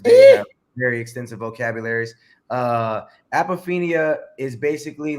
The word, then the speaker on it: apophenia: project and it is called how do you pronounce it apophenia what is apophenia apophenia and they would explain it way better than